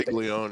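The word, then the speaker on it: Castiglione: For those that do not know, the AD, is it Castellon? I can't I can't remember how you say his name. Castigleon.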